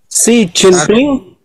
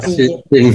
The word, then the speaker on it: Xi Jinping: Xi Jinping, Xi Jinping, Xi Jinping.